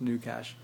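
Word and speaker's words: GnuCash: G and new cash I think it's pronounced new cash um is actually a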